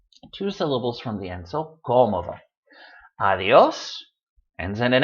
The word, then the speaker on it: cómodo: Cómodo, it's not stressed on the last syllable. It's not stressed on the next to the last syllable like it should be according to the rule, since it ends in an O, which is a vowel.